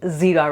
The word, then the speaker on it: jeera: I'm going to show you today how to make cumin rice, which is also known as jeera, or as I pronounce it at home, zira rice.